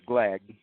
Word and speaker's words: Glagg: His name is Glagg.